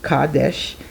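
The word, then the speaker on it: Qadesh: tell me something here it says quadesh pronounced Kadesh is an ancient Egyptian goddess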